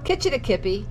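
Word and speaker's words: Kitch-iti-kipi: and the lady just told me how to pronounce it kit a kippi and it's about 10 miles from here so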